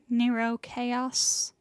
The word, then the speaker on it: Nero Chaos: Nero Chaos. Yes, that is how that is pronounced.